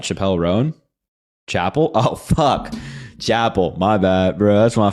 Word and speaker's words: Chappell: Chapel.